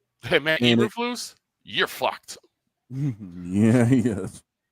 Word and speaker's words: Eberflus: Matt Eberflus. Uberfools.